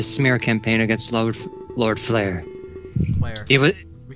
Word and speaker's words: Blair: Blair. It was We say it wrong every Blair. time. I keep calling him Lord Flair.